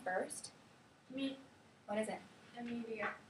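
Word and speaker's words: Emilia: Amelia. Say it again. Amelia. Let's try it. No. Like that? How do you spell it?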